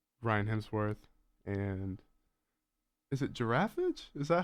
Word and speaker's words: Giraffage: sync which is Ryan Hemsworth and is it giraffage is that how it's pronounced yeah you could say giraffage I've I've I've gotten like Gir F and giraff but yeah generally giraffage is the uh okay correct way to say